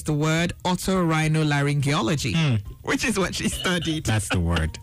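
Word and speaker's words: otorhinolaryngology: resume and she officially taught me how to pronounce the word auto rhino laryngology which is what she studied that's the word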